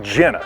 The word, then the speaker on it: Genna: they were all Jenna Vince's family name in Italy is pronounced Jenna so when he got